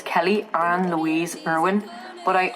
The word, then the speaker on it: Kehli: Is my actual name Kelly? My actual name is spelled like this, K-E-H-L-I, like that's my birth name.